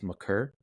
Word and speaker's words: Maker: I used to say Maker, but apparently it's Maker.